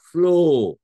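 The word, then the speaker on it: flaw: নট ও যদি বলতাম এফ এল ওডবলিউ এটা ফ্লো ফ্লো মানে প্রবাহিত হওয়া নদী যেমন রিভার ফ্লোজ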